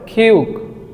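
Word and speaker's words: 키읔: এটাকে কোরিয়ানরা বলে খিউক। খিউক, এটার মূল উচ্চারণ খ।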